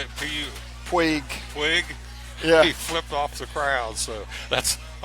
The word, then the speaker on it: Puig: Puig.